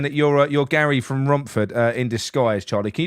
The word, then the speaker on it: Romford: few people saying that you're you're Gary from Romford uh in Disguise Charlie can you do me a favor can you just pronounce Rumford for me Romford yeah that's it